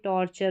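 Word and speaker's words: torture: मॉइस्चर mixture यह हो गया रैप्चर फिर यहां पर देखिए टॉर्चर हो गया तो इस तरीके से रैप के पीछे चर फिर टॉर के पीछे चर का उच्चारण हो रहा है यहां पर है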